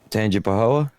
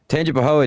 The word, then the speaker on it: Tangipahoa: No, because I don't want you to mispronounce the name of the town. Yeah, I want you to get it right. Tangipahoa? Close. Tangipahoa deputies didn't know.